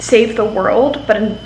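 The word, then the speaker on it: Whirled: It's called Save the World, but in world is spelled W-H-I-R-L-E-D.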